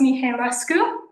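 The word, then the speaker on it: Mirescu: My name is Mi Rescu. Um it's pronounced the way it's spelled so that'll help for everyone.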